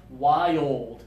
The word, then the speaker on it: wild: But now this one, remember, slow it down. Two syllables, please. Wild.